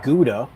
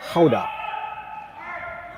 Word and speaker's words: Gouda: Another Dutch word I think we're all familiar with, the cheese Gouda. That's the kind of anglicized way of saying it. But apparently in Dutch it's Gouda.